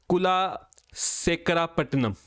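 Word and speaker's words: Kulasekarapattinam: I hope इसको pronounce करते हैं कुला शेखरापट्टनम।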